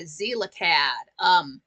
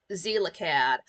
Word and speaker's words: Xelacad: remix of it by Zelacad. It's spelled XELACAD. Zelacad.